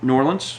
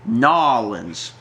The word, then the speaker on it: New Orleans: You have to pronounce it New Orleans. Not, as I've been told, Nolans. Because apparently only tourists pronounce it as Nolans, which I'm not...